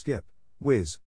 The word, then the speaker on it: GPWS: early system was turned ground proximity warning system gpws often pronounced skip whiz one major shortcoming of